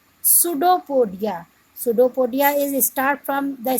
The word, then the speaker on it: pseudopodia: It pushes out one or more finger-like projections called pseudopodia. Pseudopodia is start from the spelling of pseudopodia start from P, but P is silent. So this word is pseudopodia or false feet for movement and capture of food.